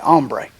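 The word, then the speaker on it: hombre: Some bad ombre. The H is silent.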